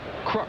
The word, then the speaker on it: Kruk: Or as they call him here in Cincinnati, Crook. That is the way John's family does pronounce his name, is Crook, and John Browdy, the PA announcer here, calls him Crook.